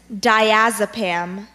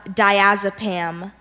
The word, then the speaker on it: diazepam: is correct that's number 16 your word is diazepam diazepam can I have the language fortune diazepam